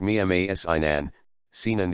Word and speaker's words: Mimar Sinan: Koca Mimar Sinan A with circumflex, Ottoman Turkish, Modern Turkish, Mimar Sinan, pronounced Mimar Sinan the architect, c.